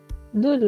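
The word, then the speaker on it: 둘: Dul lo pueden pensar como... en inglés la palabra duelo, duel, ¿sí? Es dul.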